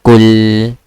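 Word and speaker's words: قُلْ: You just need to stay like you should break the sound for the lam, okay? Like kul.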